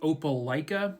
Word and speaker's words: Opelika: This case will take us to, I believe it's pronounced Opelika, Alabama.